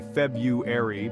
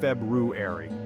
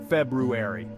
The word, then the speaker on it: February: mispronounced many people say February but the correct way is February the r is actually pronounced and the emphasis is on the first syllable say it slowly with me February excellent you've mastered it